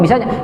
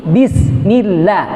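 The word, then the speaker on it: بسم الله: Kalau nggak pakai guru, bisa bismillahirrahmanirrahim. Oh ya bagus anak-anak. Gitu. Kalau pakai talqin itu enggak, satu-satu lihat. Ayo coba baca bismillah. Bi, bukan B. Bismillah. Ikutin, lihat nih mulut.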